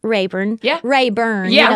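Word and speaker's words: Lake Hartwell: I grew up um I learned to ski on Lake rurn rurn that's how we say it that's not how you spell it but that's how you say it and um we we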